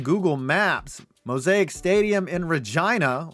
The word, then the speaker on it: Regina: MOSAIC Stadium in Regina, which rhymes with Dolores, is another beautiful modern stadium in Canada.